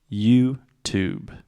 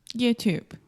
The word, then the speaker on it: YouTube: say you you perfect YouTube YouTube so the last sound is the B sound there is no e at the end in writing there is an e but in speaking the E is silent YouTube YouTube okay so